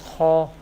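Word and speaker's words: خ: First letter is Kha. Kha will be pronounced from the top part of the throat.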